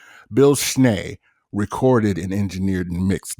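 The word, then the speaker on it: Schnee: It's spelled S C H Ne E but it's pronounced Schneay. Bill Schneay recorded and engineered and mixed the Jackson's live album from 1981.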